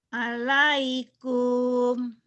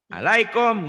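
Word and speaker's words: عليكم: Alaikum. Salah. Lebay itu mah Bu. Itu mah lebay. Alaikum gitu Bu, nggak ada yang panjang.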